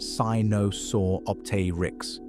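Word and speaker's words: Sinosauropteryx: Sinusauropteryx, pronounced si-no-saw-op-ter-ix, Caudipteryx, Microraptor, a small dromaeosaur with four wings.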